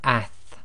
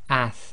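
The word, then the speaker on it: ث: And then we have ath, ath, and now this is as in the English word athletics.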